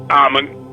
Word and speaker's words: Amun: so you see that in Egypt is pronounced Amon but Muslims pronounce Amin as the hidden one you have you have